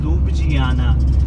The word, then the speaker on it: Ljubljana: यहाँ की capital, Slovenia की कैपिटल का नाम है ल्यूब्लियाना। प्रोनाउंस थोड़ा अलग तरीके से करते हैं, क्योंकि ये जे वगैरह नहीं बोलते।